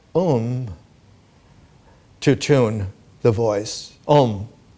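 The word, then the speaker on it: ॐ: to tune the voice om its pronunciation in slow tone is Al begins with a goes to U ends with M and an exclamation mark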